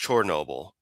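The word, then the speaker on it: Chornobyl: On a side note, bringing up Chernobyl, really best pronounced Chernobyl, a little bit more an O sound and actually spelled with an O the proper Ukrainian way.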